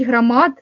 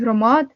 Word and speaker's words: громад: каже комунікувати замість комунікувати говорить грамат замість громад Параска замість поразка Голова районної